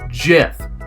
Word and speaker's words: GIF: on the web and yes it's pronounced jiff don't correct me on